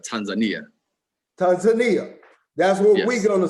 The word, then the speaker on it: Tanzania: Is it pronounced Tanzania or Tanzania? So talking to the nationals here, they have, of course, they have an accent that is particular to this area, and so they say Tanzania.